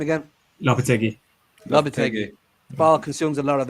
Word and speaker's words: Lopetegui: How do you pronounce the manager's name again? Lopetegui.